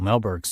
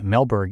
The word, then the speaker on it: Mehlberg: And big thanks to Seth, who is a contributor on Michael Melberg's site.